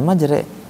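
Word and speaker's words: مجريها: Bismillahi majre majre uraha nah pertanyaannya Kenapa dibacanya majre Padahal kalau kita lihat ini lihat dari sisi tulisan sebelum ada haknya H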